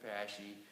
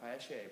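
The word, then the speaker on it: Paasche: py thing and believe it or not they pronounce it pashy talk to Chuck it's Chuck pashy it's not pashe but you can say Pas whatever okay so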